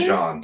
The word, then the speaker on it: Dijon: Dijon. Dijon. I say it wrong every time. It's French.